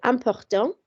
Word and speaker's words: importante: We actually pronounce the T this time because it's not the final letter. So important becomes important, okay?